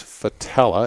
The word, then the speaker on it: Fattaleh: ki P and my last name is fatale ax and again it's spelled F isn't Frank F a t a